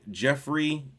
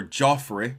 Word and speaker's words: Geoffrey: We are reading Jeffrey or Joffrey since it's uh spelled with a G. Joffrey James's angel magic.